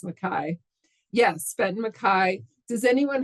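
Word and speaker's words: MacKaye: Mary Fire, got Benton Mackay, or I think it's pronounced Mackay.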